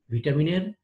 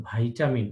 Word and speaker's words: ভিটামিন: ভিটামিনের সঠিক উচ্চারণ ভাইটামিন, নট ভিটামিন, কিন্তু আমাদের দেশে ভিটামিন হিসেবেই চলে কথাটা, আমরা ভিটামিন এই জন্য বলি।